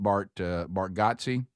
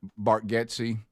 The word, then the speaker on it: Bargatze: that that that did the shout-out for Nate Bargatze. Isn't that the right way to say it? think it is. Bargatze?